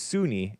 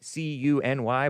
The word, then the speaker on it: CUNY: I thought it was SUNY, C-U-N-Y, but it's pronounced CUNY, City University of New York.